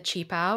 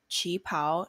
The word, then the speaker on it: qipao: as well if you're not familiar with the chi pao or chung sam we'll try to describe it